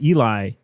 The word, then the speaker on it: Eli: We introduced the names of the hosts of Querying the Message, and we said Ellie. It's Eli.